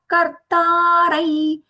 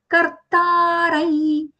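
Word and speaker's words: कर्तारं: Gunebhyak kartarai. Kartarai, the anuswara nasal ya sound because it is followed by the letter ya.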